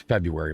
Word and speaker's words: February: It's February, man.